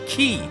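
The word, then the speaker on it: χ: what's the difference well the X symbol according to the game is pronounced Kai or key so it's known as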